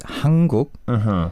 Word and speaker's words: 한국: Hang, it's easier to distinguish, but when you have Another syllable. coming up, it becomes hang. For example, 한국 is 한국.